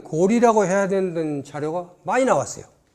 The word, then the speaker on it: 高麗: 서너 가지 자료를 올린 데 비해서 고구려는 고구리라고 있고 고려는 고리라고 해야 되는 자료가 많이 나왔어요.